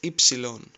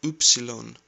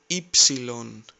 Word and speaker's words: ypsilon: Next is ypsilon. You heard it like upsilon. Replace U with E and say ypsilon, ypsilon.